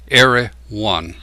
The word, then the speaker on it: Erewhon: 19th century dystopian novel era one he pronounced it in three syllables the word itself is